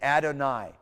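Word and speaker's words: אֲדֹנָי: and a yod, but it has a diphthong sound. It always will have the same sound as like tie, to tie, a bow tie. Okay, and you'll see it. It's like in Adonai, okay?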